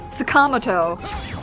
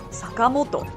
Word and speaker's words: Sakamoto: But it's very easy to learn last names in Japanese that have the 4 syllables because it's just down, up, down.